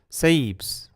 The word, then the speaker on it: Seebs: So is it version A, Seabs, or version B, Seebs? A, Seabs, B, Seebs. Seebs. Seebs, that's version B. Seebs. Well, that's easier to say, isn't it, than Seabs? It's more like one syllable.